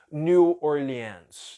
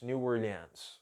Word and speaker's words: New Orleans: Estados Unidos New Orleans Eu imagino que seja assim a maioria dos nativos pronuncia como New Orleans New Orleans Ok pode ser que alguns lugares se diga diferente a Sirlei falou Hello